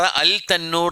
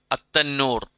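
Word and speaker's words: التنور: അതുപോലെ തന്നെ ഇദ്ഗാമു ഷംസി അവിടെ എന്താ? വഫാറ തന്നൂർ, വഫാറ അൽ തന്നൂർ എന്ന് പറയോ? ഇല്ല, അത്തന്നൂർ.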